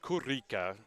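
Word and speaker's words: Kullika: his name is spelled with k-u-l-l-i-k-a but it's pronounced kurika this is what he told me before the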